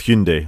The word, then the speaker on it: Hyundai: and it's specifically with Hyundai or H Hy andai or I can't say it properly Hyundai I think is the correct way to say it um at the